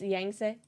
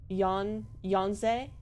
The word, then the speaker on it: Yangtze: The Chinese pronunciation says Yan, like on ze. Yangtze?